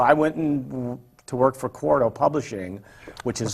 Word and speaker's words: Quarto: Quarto is spelled Q-U-A-R-T-O. Quarto, like Quarto milk.